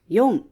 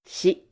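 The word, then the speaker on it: 四: ichi ni san yon, hoặc shi Số này có hai cách đọc. Cách đọc thường dùng hơn là yon.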